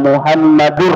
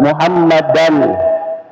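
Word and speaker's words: محمدًا: Kesalahan yang biasa kita dengarkan adalah muazin mengucapkan ashadu anna muhammadur rasulullah. Ya, biasa kita ada Muhammadu ya padahal Muhammadan ya.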